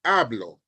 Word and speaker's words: hablo: If you see HABLO with an accent mark on the O, it's telling you that the stress is no longer on the first syllable, but now is on the second or the last syllable in this word.